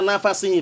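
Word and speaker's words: نَفَسِهِ: Wa nafsuhu yantahi haitsu wa nafasuhu, ana bacanya keliru tadi, ulangi. Fala yahillu likafirin yajidu riha nafasihi, bukan nafsu, bukan nafsihi, nafasihi, nafas maksudnya.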